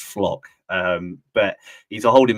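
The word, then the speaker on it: Flach: already um he's a a midfielder called Leon flock it it's spelled flat but it's I bit advised that it's pronounced flock um but he's a holding midfielder uh he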